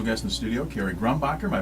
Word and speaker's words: Grombacher: And we have a special guest in the studio, Kerry Grombacher. Am I pronouncing that correctly?